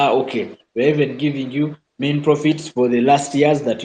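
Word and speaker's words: mesne profits: Now, if you go to court and you are not seeking what we call main profits, Somebody will pronounce it as men's profits, but these are basically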